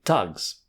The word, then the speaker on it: Thugs: I had a long discussion with the ex-lord Chancellor as to whether the right pronunciation was thugs, thugs, or thugs. He pronounced that it should be Tugs, so thugs it is.